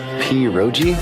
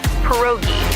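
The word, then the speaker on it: pierogi: Peroi. Did I pronounce that right? It's pronounced perogi. A tasty dish like dumplings.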